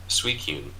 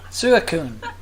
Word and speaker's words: Suicune: Or I try and pronounce it. Puchina. Mightyena. Oh, I get it. Yeah, that works. Suicune. We're back to this. Yeah. Suicune.